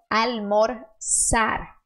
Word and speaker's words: almorzar: existe no espanhol então a letra z no espanhol sempre que você ver ela você vai fazer o som de s então almor sar almor sar a Suca el